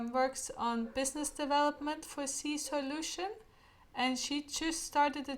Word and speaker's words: Seasoilution: So it's Seasoilution. Soil. One more time, please. So it's a word play on soil and solution.